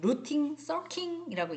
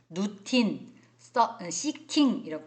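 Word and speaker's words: routine seeking: 어떻게 하면 성인학습자님들을 웃겨드릴까 고민하다가 2가지 버전으로 오리지널 영어 발음과 콩글리시 영어 발음으로 말씀드릴 거니까 쓰실 분은 쓰셔도 좋아요. 이 루틴 서킹이라고 얘기하는 거예요. 루틴 시킹이라고 발음해도 좋습니다.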